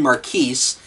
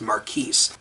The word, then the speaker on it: Marquise: Now, this is, as I said earlier, this is a Grand Marquise, or it also could be called a Grand Marquis, but I believe it's technically pronounced Marquise.